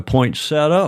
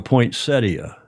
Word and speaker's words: poinsettia: Now, that thing in front of you, you call that a poinsetta or a poinsettia? Poinsetta. Poinsetta. Even though it's spelled poinsettia with a t i. The i is silent.